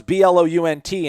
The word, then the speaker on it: Blount: in mississippi that was b-l-o-u-n-t and we were supposed to pronounce it blount so yeah well i mean that's phonetically how it's spelled right yeah like if